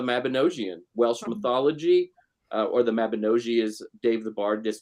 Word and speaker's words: Mabinogi: based on the mabinosian Welsh mythology or the Mabinogi is Dave The Bard this told me is the correct pronunciation but so there's like this really kind